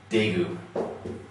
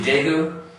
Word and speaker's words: Daegu: Okay, the city Daegu used to be spelled with a T, and then around the same time, they changed it to a D. Okay, just showing that it's kind of in that middle ground.